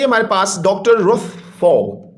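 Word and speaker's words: Pfau: Next character है जी हमारे पास doctor Ruth फाउ। इसमें पी साइलेंट है बच्चों, इसको फाउ पढ़ना है।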